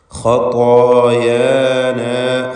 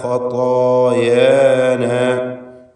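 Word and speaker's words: خَطَايَانَا: ഖതായാന, ഖതായാന, ആ അലിഫുകളുടെ വ്യത്യാസം പ്രത്യേകം ശ്രദ്ധിക്കേണ്ടതാണ്. ത എന്ന് പറയുമ്പോൾ അലിഫിന് തഫ്ഖീമാണ്.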